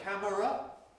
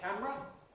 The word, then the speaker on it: camera: Lateral, which I normally call lateral, a camera, which I normally call a camera.